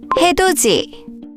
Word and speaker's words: 해돋이: So it's pronounced 같이. Let's look at some more examples together. 밭이, 밭이, 밭이. 밭이. 해, 돛이, 해돋이, 해돋이.